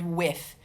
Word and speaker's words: with: Some people in the UK might have a buzz TH there, like the word with. The word with in America has a blown TH.